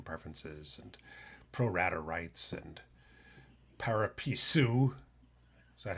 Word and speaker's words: pari passu: discussion about liquidation preferences and pro-rata rights and pari passu. Is that how you say it, Louis? Well, I say it pari passu.